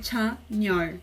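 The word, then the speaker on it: Chanyeol: A grafia é Chan-yor, mas a pronúncia pode ser Chan-yor. Chan-yor.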